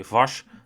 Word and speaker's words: Vos: Yeah, perhaps, but Vos is skipping Zonhoven and Pietersen looks to be riding there, so that could be costly points that Vos misses, or I should actually say Vas, as that's how we should pronounce it according